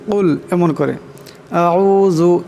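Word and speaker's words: أعوذ: আউযু এখানে জাল আছে, জালের আওয়াজটাকে নরম করিয়া পড়তে হবে।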